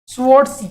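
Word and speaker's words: Swarts: बोलते हैं हम लोग स्वर्ट्स स्वर्ट्स reaction स्वर्ट्स reaction it इट इज फ स्वर्ट्स reaction S डब् ए आर टी एस but pronounce as स्वर्ट्स reaction okay by using this reaction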